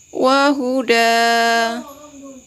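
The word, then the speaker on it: وهدى: dengan kata yang selanjutnya maka kita baca Wahyu dan tetapi apabila kita berhentikan atau kita wakafkan maka berubah menjadi Mad iwad menjadi panjang maka dibacanya wa Huda sekali lagi wahuda Nah di sini Ada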